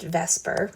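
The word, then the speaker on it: VSEPR: the lewis model the vesper model it's spelled v-s-e-p-r but it's pronounced vesper by chemists um the valence bond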